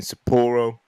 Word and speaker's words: Sapporo: New Japan New Beginning in Sapporo.